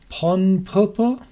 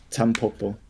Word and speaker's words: Tanpopo: Today we're going to be talking about Ponpopo. Is that how you say it? Tanpopo. Tanpopo. Right, Tanpopo.